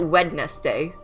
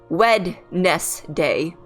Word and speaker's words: Wednesday: Also, no one calls it Wednesday. It's like, Wednesday. You remove the D. The D is silent. Why is the D silent? Because you have, like, it's like, it's Wednesday.